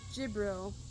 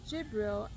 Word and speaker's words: Jibril: In Islam Gabriel which I believe is pronounced Jibril for them, acts as a messenger